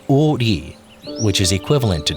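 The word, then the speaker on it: 오리: Its name derived from the fact that it stretches for 5 ri, pronounced o ri, which is equivalent to 2 kilometers.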